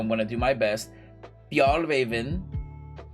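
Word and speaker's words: Fjällräven: Fjallraven, I think is how you say it. Fjallraven, which is like F-J-A with an umlaut. I don't know what they call it in Swedish. L-L and then like Raven. R-A-V-E-N, I think.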